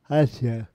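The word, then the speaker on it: Eja: Had a son, Ajax, pronounced Asia.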